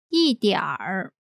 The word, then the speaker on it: 一点儿: 慢慢 And finally, 一点儿 meaning a little. 一点儿一点儿。 Pronunciation note. People in the north part of China tend to pronounce this as 一点儿一点儿 combining 慢 with 一点儿慢一点儿 means slow down a bit or slowly.